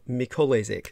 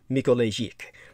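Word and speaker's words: Mikołajczyk: ballistic pupa is jojo mikholezek they are um actually the correct polish pronunciation would be mikolaijik and mikolaijik is a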